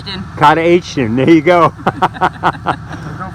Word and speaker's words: Katahdin: Katahdin.